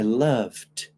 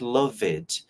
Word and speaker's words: loved: see in the past it's not loveed it's not love some of my students will say this you forget the letter e and you say the letter D loved can you say this